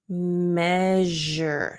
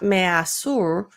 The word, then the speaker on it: measure: an sh sound but when it's in this word it's a j sound so it does change